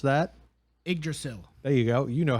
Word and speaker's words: Yggdrasil: I do not know how to pronounce that. Yggdrasil.